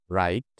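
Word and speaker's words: write: plus আর চুপচাপ ডাব্লিউ ডব্লিউ এবং আর একসাথে থাকলে ডব্লিউ কে চুপ থাকতে হয় যেমন রাইট রং বি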